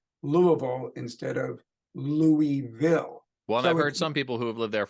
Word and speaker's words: Louisville: live from the studios of Studio Simon in Louisville Kentucky how am I doing Dan saying Louisville say it again Louisville that's perfect is it okay all right good